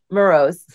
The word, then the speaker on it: Moroz: she has a pretty name and I can't pronounce things so help me here say your first name that's pretty second name morose say them both together now morose hey I like that that's very good well